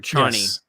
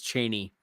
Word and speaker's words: Chani: Or Chani. Yes. Frank Herbert says Cheney.